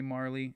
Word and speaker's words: Marle: before some people say Marl some people say Marley in case you were